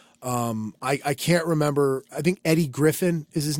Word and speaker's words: Eddie Griffin: I think that's his that's how you say it's Eddie Griffin it's not like Eddie Griffith or something no it's Eddie Griffin okay like Undercover Brother